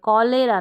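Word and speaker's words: cholera: character ना कि चरेक्टर कलेरा ना कि लेरा फिर है कोरस चोरस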